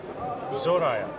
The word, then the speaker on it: Zoraya: I'm here with Manuela from Zoraya. Yes, Am I correct.